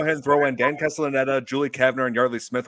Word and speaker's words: Dan Castellaneta: Dan Castanella. Yeah, Dan Castellaneta.